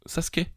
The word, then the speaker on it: Sasuke: Et Sasuke, Sasuke. ça se prononce Sasuke.